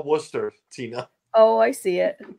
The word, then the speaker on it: Worcester: I've been to Worcester. It's not Worcester. It's Worcester. I know what they say, but it's not phonetically correct.